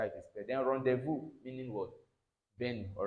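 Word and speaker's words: rendezvous: Then rendevu meaning what? Ben. All right. Rendevu. All right. This how it is spelled.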